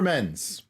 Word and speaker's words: Menz: Menz. First, thank you. Second, is there a way to send you a bottle of my very first mead, also last name pronounced like men's restaurant?